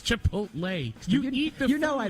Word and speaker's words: Chipotle: Did I mispronounce that? Chicote from Star Trek. Chipotle? It's Chipotle.